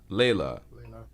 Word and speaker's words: Layla: Is it Leela, Layla, Layla. Layla? Yes. Okay, so Layla, would you